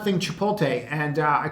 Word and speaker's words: Chipotle: some action also um I did not think Chipotle and uh I called the company that is the right way to pronounce that name and if you look here